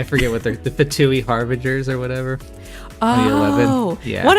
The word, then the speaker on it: Harbinger: I think pronounced like binge drinking. Finay. Okay. Yes. Okay. Harbingers. Binger. Like binge drinker.